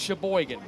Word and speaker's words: Sheboygan: Michigan you're from Michigan when you can pronounce Sheboygan you're from Michigan but you can say Sheboygan Mackinaw maybe you can